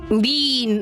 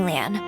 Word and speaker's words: Leanne: Lean? I'm reading this as lean, but I don't think that's how it's supposed to be pronounced. Oh, good morning, Leanne.